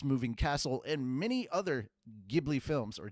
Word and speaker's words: Ghibli: Castle, and many other Ghibli films, or Ghibli. It's pronounced Ghibli in Japan, but we say Ghibli here sometimes. It can be either or as far as I'm concerned.